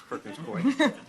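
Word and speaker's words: Perkins Coie: mess that up but I know how to pronounce Perkins Koy uh Josh's work focuses on voting rights litigation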